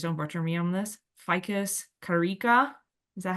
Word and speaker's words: Ficus carica: The scientific name for fig is, please don't butcher me on this, Ficus carica. Is that how you say it? Close. Ficus Close? carica. Ficus carica.